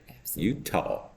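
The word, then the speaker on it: Eutaw: it's not spelled yeah it's not spelled like this like the state it's e-u-t-a-w Utah Alabama Alabama my niece would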